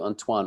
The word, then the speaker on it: Antoine: I move on to Antoine, okay? Okay. Thank you thus far. Okay. Am I saying it right, by the way? Antoine. Yes, that's it.